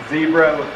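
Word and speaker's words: Xebra: our what we call our zebra that's spelled with an X and our goal with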